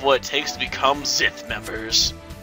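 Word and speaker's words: Xth: I'm the director of the Zith Squad. Oh, so it's pronounced with a Z, huh? Weird. Now you know the whole truth. Yes, this is the headquarters of the Zith Squad.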